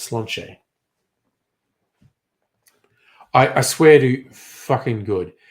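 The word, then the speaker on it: Sláinte: So the toast is Slainte, and that's Gaelic. It's pronounced Slanche.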